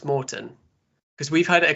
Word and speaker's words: Maurten: Uh, you're pronouncing it correct, Mort. Um, so yeah, I think we hear a lot of different pronunciations and it can be a little confusing. It's a Swedish company, so need that Swedish accent.